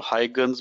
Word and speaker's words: Huygens: Yeah, Huygens is actually a Dutch name, so it's a little different pronounced than it is written. And different pronunciations out there, Huygen.